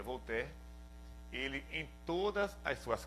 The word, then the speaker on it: Voltaire: muito conhecido na verdade se inscreve voltaire em português mas se pronuncia vou ter ele em todas as